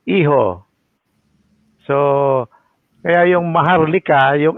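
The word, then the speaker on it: hijo: you look at Uh the Spanish language H is not pronounced it is what we call the silent h h y yyung iho IO H I J O MM That's not heho It's iho So kaya yyung Maharlika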